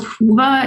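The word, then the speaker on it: Whova: we have an official event app it's called hoova it's spelled w-h-o-v-a um some of the things you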